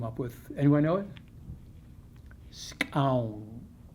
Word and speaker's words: Skxawng: Scown. It's spelled Skxawng.